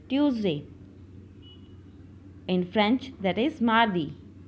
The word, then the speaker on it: mardi: In French, that is mardi. How we will pronounce Tuesday in French is mardi. Mardi. Mardi. Yes, beta, repeat with me. Mardi. Mardi. Yes, mardi.